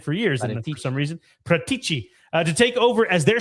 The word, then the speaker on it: Paratici: Fjordina have reached out to Spurs's Fabio Pratiti. Prat Pratiti Pratichi. That is a tough last name. Say Pratici. That is how you say it. I've said it for years for some reason. Pratici to take over as their sporting director.